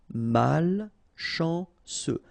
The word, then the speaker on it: malchanceux: Malchanceux, final X not pronounced, C-E-U, ce, malchanceux, malchanceux. Peu utile, final E not pronounced, peu utile.